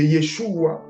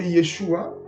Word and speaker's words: Yeshua: Comme Jésus est la traduction en français de Yeshua, qui est la prononciation en hébreu, c'est-à-dire la façon dont originalement c'est prononcé. Donc, si tu dis au nom de Yeshua, tu as raison.